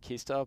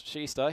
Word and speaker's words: Kista: wondering about the pronunciation it may look like Kista but pronounce shista here for the locals wasn't